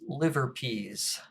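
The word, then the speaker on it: LIVRPS: this algorithm referred to using the acronym l-i-v-r-p-s sometimes pronounced liverpease composition is one big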